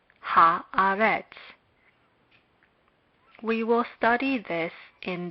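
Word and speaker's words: הארץ: Haaretz. Haaretz.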